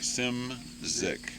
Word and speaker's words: Szymczyk: clear one time bill simsik cinzik sim zick okay just that's like phonetically it's s-i-n-m-z-i z-i-c-k right that's what i'll put